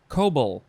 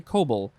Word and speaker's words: COBOL: grandes yep next is kobol i think you would just say cobol c-o-b-o-l and you could